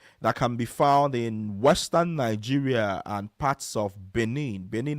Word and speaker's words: Niger: So, Niger is spelled n i g e r.